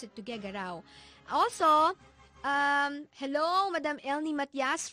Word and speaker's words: Tuguegarao: That's actually how you pronounce it, Tuguegarao.